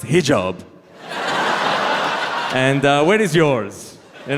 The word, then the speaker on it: hijab: She hops off a boat, she's like, hi, job. They're like, actually, it's pronounced hijab.